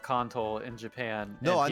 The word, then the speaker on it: Kanto: it kanto or kanto and actual japan it's pronounced contol ah um like in pro and off in